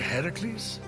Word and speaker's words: Heracles: doing there that thing with your voice the heracles yeah that that is how it's supposed to be pronounced seems like a lot of work but